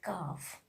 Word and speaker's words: calf: Letter L is the silent when it comes just after the vowel A, O, and U, like calf, half, palm, would, should, could. We are not pronouncing letter L.